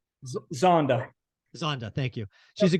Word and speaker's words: Zonda: Zondo, what is it? Yep. I don't know how to pronounce it. What's it called? Zonda.